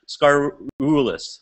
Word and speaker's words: Skaroulis: This is Ryan Hoy aka Massage Nerd and today we have a special guest, Scarulis. Did I pronounce that right? Scarulus.